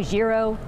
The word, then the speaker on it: gyro: Did I say it right? Because you know that's the big debate. How do you say it? Gyro, gyro, gyro. Yes. Gyro. You said it right.